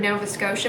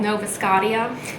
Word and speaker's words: Nova Scotia: pronunciation of it before I had never heard of Nova Scotia before and I thought it was called Nova scaia but one of the